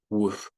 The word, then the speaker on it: would: La pronunciation sería would. Desaparece la L.